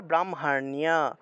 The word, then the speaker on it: ব্রাহ্মণ্য: তাহলে বৃদ্ধি, বৃষ্টি, দেওয়াতা, এটা আবার ব্রাহ্মণ্য, এই বটা হলো বর্গীয় ব। তাহলে ব্রাহ্মণ্য, ব্রাহ্মণ্য, এখানে মূর্ধন্য আছে, জফলা আছে, তাহলে জফলা থাকায় নিয় উচ্চারণটা হবে, নিয়, ব্রাহ্মণ্য, ব্রাহ্মণ্য, এইভাবে নিয় উচ্চারণটা হবে।